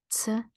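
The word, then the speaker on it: ц: The closest we can get is C, as in the word pizza, right? So here we go. You have this sound in the word pizza. In Russian, I say it like pizza, pizza, C. So C, C, and the mnemonic for this sound is pizza.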